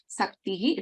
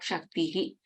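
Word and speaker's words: शक्तिः: So if it is in that context, it is Saktihi, it is not Shaktihi.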